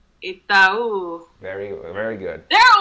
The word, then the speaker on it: Itaú: So the pronunciation is Itaú.